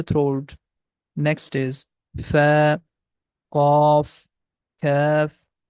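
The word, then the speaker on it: كاف: Next is Fa, Qaf, Kaf, that's the light sound, K sound, Lam, Meem, and here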